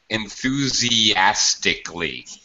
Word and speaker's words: enthusiastically: good that's good enthusiastically notice notice how I don't really pronounce this a in K enthusiastic K I don't do that I It just sounds like CLE this is very normal